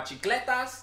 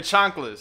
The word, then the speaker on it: chanclas: I had my chicletas. Did I say it right? What the I fuck said is it right. Your chanclas. My chanclas. Yeah. As you say it the proper way.